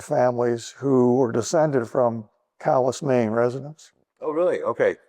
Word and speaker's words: Calais: Spelled Calais, pronounced Calais.